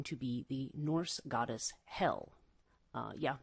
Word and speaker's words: Hel: goddess hell uh yeah that is actually her name but it's not spelled like the place um that we think of punishment in christian um christian thinking certainly the idea of heaven you know heaven hell and perhaps purgatory if you're if you're catholic um hell in this case is spelled with uh just one l so it's h-e-l and hell is as